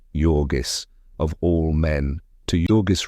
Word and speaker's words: Jurgis: And she had just been married and married to Yorgis, pronounced Yorgis of all men, to Yorgis Rutkus.